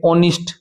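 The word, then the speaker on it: honest: इसके पहले एच आया हुआ है। परंतु इसकी जो साउंड है वो क्या है अभी? ऑनेस्ट क्या है अभी?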